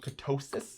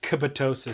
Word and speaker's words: ketosis: Can't break histo ketosis. Kattosis. Ktosis. It's actually pronunciate ketosis.